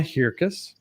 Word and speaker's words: Hirkus: Next, we have Hirkus, and it rhymes with circus, and I'm close. It was Hirkus.